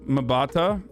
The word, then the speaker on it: Mbatha: Mbatha is pronounced Mbatha.